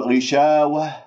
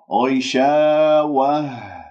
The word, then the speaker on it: غشاوة: هواء خارج من الرئة، يعني تقول غشاوة غشاوة هكذا، هذا هواء خارج من الصدر، هذا خطأ. غشاوة هكذا باهتزاز، تحس بالاهتزاز في منطقة أقصى الحلق، ولا تقول وه وه، لا و و و و بهذه الطريقة.